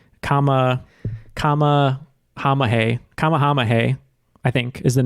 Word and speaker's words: Kamehameha: It's just I would spell it the wrong emphasis. Kamehameha.